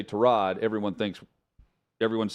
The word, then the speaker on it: Tyrod: that I had to get used to was Tyrod Taylor, because Tyrod Taylor for years. Tyrod Taylor, and then it's Tyrod. But when the announcers say Tyrod, everyone thinks everyone's saying it the wrong way